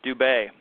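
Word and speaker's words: Dubé: We both have the accent AU over the E, so I know how to pronounce their last name.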